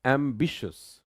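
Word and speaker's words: ambitious: अगला वर्ड है एंबिशियस।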